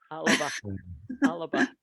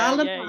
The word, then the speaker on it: Alba: correct way to pronounce Alaba. Alaba. Yeah, three syllables. Definitely 3 syllables. Oh, is that right? Yeah, Alaba.